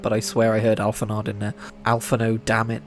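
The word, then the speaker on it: Alphinaud: I refuse to believe that D is silent. I don't care that the French language exists.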